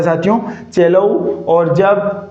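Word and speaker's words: cello: सेलो। क्या है? सेलो। नहीं साथियों इसका उच्चारण क्या होगा? चेलोऊ। क्या होगा साथियों? चेलोऊ होगा। और कब होगा?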